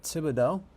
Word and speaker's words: Thibodaux: But we do have Thibodaux in Louisiana, and I know I said that right. I am great at pronunciation.